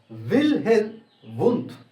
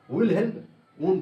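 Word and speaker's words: Wilhelm Wundt: ইনি একজন German psychologist, এবং জার্মানি যে প্রোনাউন্সিয়েশন সেটা অ্যাকচুয়ালি উইলহেলম উন্ড, কিন্তু আমরা ইংলিশে বা আলাদা আলাদা ল্যাঙ্গুয়েজে এটার প্রোনাউন্সিয়েশন করে থাকি উইলহেলম উন্ড বলে।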